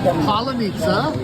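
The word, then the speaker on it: паляниця: And this is palanitsa. Did I say it correctly? No. All right, it's a palanitsa. Not strawberry, not palanitsa, but palanitsa.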